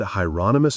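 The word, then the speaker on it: Hieronymus: You said Hyonomous Bosch, like the painter. The second question confused him. I don't know anything about any painter, but that's his name. Rhymes with anonymous, I was told.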